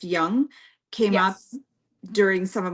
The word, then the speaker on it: Jung: psychology the name Carl Jung which I guess is pronounced Young came up during some